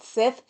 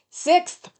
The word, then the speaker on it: sixth: Who's friends with a Sith? What, sixth? Sixth. Come on, this newscaster's voice has got to pronounce correctly.